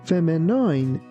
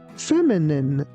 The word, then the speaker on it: feminine: Please be careful not to pronounce this word like feminine. It's feminine. Feminine.